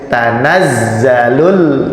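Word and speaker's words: تنزل: Ini juga ada tasdid. Bacanya tanazzalul. Nah, gitu. Tanazzalul karena ada tasdid itu ditekan.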